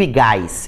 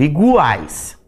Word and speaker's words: iguais: E ele vai ser pronunciado, porque eu não digo igais, eu digo iguais.